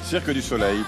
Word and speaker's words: Cirque du Soleil: se pronuncia bien Circo de Soleil en francés? Cirque du Soleil.